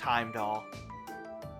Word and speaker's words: Heimdal: And yes, it is pronounced Heimdall.